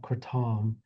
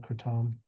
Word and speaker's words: kratom: There's the general consensus in Southeast Asia, particularly in in Thailand is that it's called kratom.